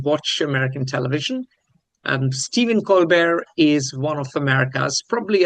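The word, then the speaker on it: Colbert: He doesn't like the T pronounced.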